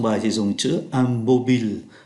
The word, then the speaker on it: mobile: Ở trong bài thì dùng chữ am mobile. Mobile là điện thoại di động. Chúng ta không có đọc là mobile giống như trong tiếng Anh nhé.